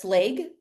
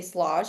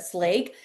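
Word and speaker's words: Schlage: So, we use the Slage. I think that's how you say it. I always used to say Slo, but Slake.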